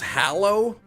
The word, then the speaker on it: Hallows: It is pronounced hallow.